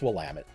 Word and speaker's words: Willamette: anyone to know how to say it it's Willamette um no no it like we've got so